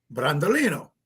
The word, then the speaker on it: Brandolino: Brandolino. Yeah. There you go. Okay. There you go. We just put a little Brando. Like Brando, like the actor.